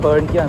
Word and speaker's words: Perhentian: Kuantan or Stop Island, Perhentian, Pulau Perhentian. Perhentian or henti means stop. So I call it Stop Island. Stop Island is 1 syllable. Perhentian there's 4 syllables, so it's easier to am I recording?